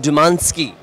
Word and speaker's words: Dumanski: Warren Dumanski. Did I pronounce that correctly?